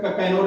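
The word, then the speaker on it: Cannanore: एन ओ आर कनू कहीं-कहीं इसका प्रोनाउंसिएशन कन्वर्ट भी है लेकिन ये प्रोनाउंसिएशन है सी O double N ओ आर ई तो इसे कंफ्यूज नहीं होना है कि इसका कैनोर लिखा हुआ है इसका कनूर होगा सी ओ डबल एन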